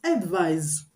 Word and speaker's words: advise: with s is pronounced advise advise the S is pronounced z z you get so that's